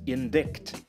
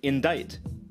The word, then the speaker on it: indict: for the first time might read it as indict but it's actually indict and once they learn that this word is pronounced rough they might pronounce this word as